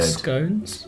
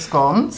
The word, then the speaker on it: scone: The pronunciation of this word is even controversial. They're called scones, Scones They're called scones. or scones. and it seems to be not necessarily depending on where you're from.